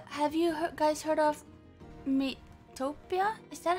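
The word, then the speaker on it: Miitopia: illuminate pokemon uh have you guys heard of me topia is that how you say it yeah mitopia you have heard the wind but i haven't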